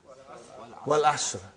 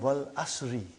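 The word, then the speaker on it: والعصر: What is the first ayah? Wal Asr. Have you ever noted down what is written there? It's called Wal Asri.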